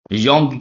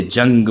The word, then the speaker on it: Jung: अच्छा याद करो, JUNG, योंग। बहुत से जाहिल इसे जंग पढ़ते हैं और कुछ जोंग।